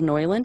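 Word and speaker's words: Neuland: i'm using is called it's actually called noiland it's spelled the same way as noil and hand and it's a german marker it's n-e-u-l-a-n-d and these markers are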